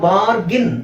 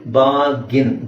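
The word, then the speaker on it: bargain: ಅಂತ ಹೇಳಬೇಕು ಅದನ್ನ ಬಾರ್ಗಿನ್ ಇಲ್ಲಿ ಆರ್ ನು ನೀವು ಸೈಲೆಂಟ್ ಮಾಡಬಹುದು ಆರ್ ಸೈಲೆಂಟ್ ಮಾಡಿ ನಾವು ಉಚ್ಚಾರಣೆ ಮಾಡೋ ಪದ ಅಕ್ಷರ ಯಾವುದು ಬಿ ಎ ಜಿ ಐಎನ್ ಸೊ ಏನು ಹೇಳಲ್ಲ ನಾವು ಬಾಗಿನ್ ಆಕ್ಚುಲಿ ಇದನ್ನ ಬಾರ್ಗೈನ್ ಅಂತ ಅನ್ಕೊಂಡಿದ್ದಾರೆ ತುಂಬಾ ಜನ ಕರೆಕ್ಟ್ ಪ್ರೊನಾನ್ಸಿಯೇಷನ್ ಬಂದು ಬಾಗಿನ್ ಬಾಗಿನ್ ಐ ಡೋಂಟ್ ಲೈಕ್ ಬಾಗಿನಿಂಗ್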